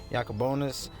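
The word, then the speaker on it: Jakob Junis: Even though it's a 1 for 1 going against Jacobonis, that's how you pronounce it.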